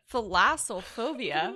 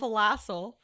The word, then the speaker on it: thalassophobia: Thalassophobia. Wait, let What me is get the that? correct way to pronounce it. I guarantee it's not called phalassel. Thalassophobia.